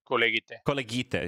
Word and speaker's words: Kolegite: Kolegite, yeah, use the hard G.